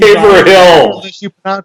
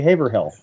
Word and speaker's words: Haverhill: to haverhill and uh or you can give her a hill correctly no i know how to pronounce it but it's funnier to say haverhill hello i'm going to